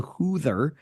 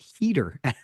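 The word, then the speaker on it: Huether: And that's when I learned it's actually pronounced heater.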